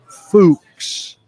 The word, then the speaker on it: Fuchs: Josh has been pronouncing Fuchs, rhymes with books, wrong.